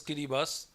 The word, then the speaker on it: Kiribati: are countries like tuvalu Kiribati they pronounce as kiribas Marshall Island and nii